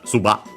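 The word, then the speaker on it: ずばっ: Uh so the small su other than uh dabling the following to is also uh the abrupt end of the uh word there. So yeah uh because it's a uh grot stop. So suba suba uh and yeah with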